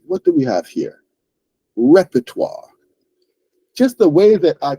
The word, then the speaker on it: repertoire: so that word is repertoire repertoire right it's a French word so that ending is not pronounced the way that English speakers will pronounce an English word right it's pronounced repertoire repertoire right like a sort